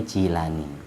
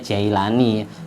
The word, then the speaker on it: Jilani: Jawa ya Cici Gilan Jilan bacanya jilanii kalau orang Inggris bacanya Jailani orang Indonesia ikut Inggris bukan ikut bahasa Arab Kalau ikut bahasa Arab Jilani bacanyaekh AB Alani Gilan itu kalau bahasa Inggris dibaca Jailani karena i itu dibaca a Jailani orang Indonesia ikut orang Inggris bukan ikut orang Arab biasanya baca Syekh Abdul